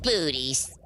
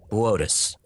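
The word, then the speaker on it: Boötes: Booties. Boötus. It Booty. says booties on the teleprompter. It's pronounced Boötus. Whatever.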